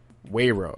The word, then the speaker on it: Weiro: I always mispronounce. Wayro? Wayro.